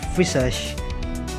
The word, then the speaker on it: visage: Your sheet covering your face, your visage. Mirage? It's like mirage. The pronunciation I mean.